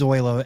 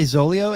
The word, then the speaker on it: Zoilo: It is Zoilo, and it's like I say Zolio, and it's like I've always assumed it was Zolio for some reason. Why, does that mean it's Zoilo? Zoilo.